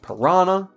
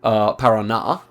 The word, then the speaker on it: Paraná: Then we have Santa Catarina, we have Parana. Okay, Para also is part of Parana, of course. Paraná, pardon me.